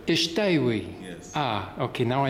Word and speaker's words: Shatawi: Ishtawi. Ishtawi. Yes. Ah, okay, now I know the correct pronunciation, because I only see your name printed.